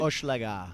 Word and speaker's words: Hochelaga: in the middle of Hochelaga on a actually pretty nice evening right now at the Block Shop Hochelaga opening. Am I pronouncing that right? Hochelaga. Okay, just drop the H.